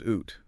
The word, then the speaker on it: ut: Originally, it was oot do came much much later.